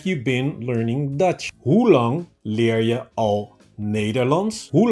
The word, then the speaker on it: lang: I guess many of you have trouble with pronouncing the ng sound together, which makes a ng sound. Okay, ng. So lang, lang.